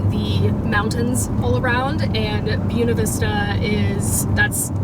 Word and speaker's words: Buena Vista: And I believe Buena Vista kind of sits in the valley with the mountains all around, and Buena Vista is, that's how you pronounce it. It's not Buena Vista, it's Buena here.